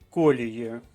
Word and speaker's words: колії: вжити фразелогізм ніби вибився з колії ще раз вертаю наголос на першому складі і фразеологізм означає зійти